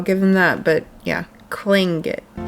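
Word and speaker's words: Tlingit: Like I said, it's Clingit.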